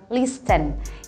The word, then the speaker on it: listen: For example, yang paling sering aku dengar ketika orang-orang bilang listen, yang artinya adalah mendengar. Ini ternyata bunyi T-nya nggak usah dibaca, jadi langsung aja kita bilang listen.